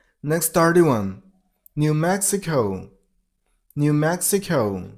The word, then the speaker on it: New Mexico: New Mexico. You got to stress on the personal level of the second word.